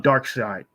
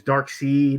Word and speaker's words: Darkseid: i really i love dark side well he in the cartoon they pronounced it as dark seed and the comic is